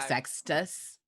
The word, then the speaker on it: Sextus: i've given it because i'm gonna pronounce it wrong like sextus yeah like a sextant it was supposed to